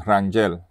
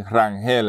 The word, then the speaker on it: Rangel: Rangel is actually German, and that's how you pronounce it, Rangel. Pero we say Rangel in Puerto Rico, it's a, you know, for a different pronunciation.